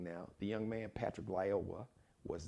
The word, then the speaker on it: Lyoya: He and his family, Lyoya.